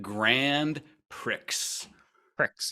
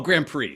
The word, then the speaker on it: Grand Prix: blood so um this this all goes back to the word Grand Prix Pricks yes is that how you pronounce it p-r-i-x yes absolutely I'm pretty sure that's what oh Grand Prix sorry sorry um so